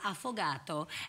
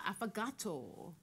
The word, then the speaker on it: affogato: After the break, we're in the kitchen making an Italian dessert called an affogato, and we're back on the couch to catch up with actress Jay Anstey.